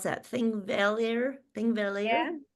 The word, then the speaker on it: Þingvellir: Tell me how to pronounce that. Thingvellir? Thingvellir? Yeah. Þingvellir.